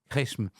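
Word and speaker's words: Qeshm: Alors c'est difficile à prononcer Q U E S M Resm.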